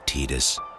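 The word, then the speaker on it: Tidus: book in the new testament titus timothy timothy tied us but there does exist a rare commercial where his name is actually said a young adventurer named titus even thinking about pronouncing his name is oh it makes my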